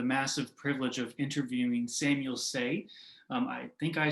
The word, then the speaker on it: Sey: yeah my name is samuel say and you did say it properly um so uh yeah